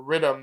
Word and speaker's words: riddim: to say rhythm right that's a jamaican pronunciation of rhythm uh but it's playing